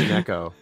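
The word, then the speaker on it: 猫: Imagine watching Japanese wrestling for 25 years and not knowing that any KO is pronounced Neko, including there being a female cat girl wrestler named Neko Nitta.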